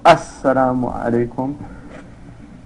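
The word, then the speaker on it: السلام عليكم: The sitting position, saying the final salam once to exit the prayer, so it's pronounced Assalamu alaikum.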